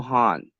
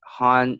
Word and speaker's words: Han: And yeah, Han. Like Han is HAN. Like Han. Yeah, Han. Like, Like you hung up the phone, the Han HUNG.